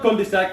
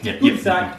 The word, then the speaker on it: cul-de-sac: It's not cul-de-sac, it's cul-de-sac.